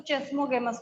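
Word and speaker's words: chasmogamous: तो आप पहला पॉइंट लिखिएगा, the open flower of oxalis is known as कैस्मोगेमस। कई टीचर्स इसको चेस्मोगेमस भी बोलते, कोई दिक्कत नहीं है, स्पेलिंग नहीं चेंज होने वाली है, कोई नहीं लेके जा रहा कहीं, ठीक है।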